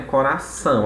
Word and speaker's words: coração: Em algumas palavras, né, quando eu tenho coração, né, coração, a gente sabe que coração ela é uma oxítona, aí sim ele vai coincidir com a sílaba tônica.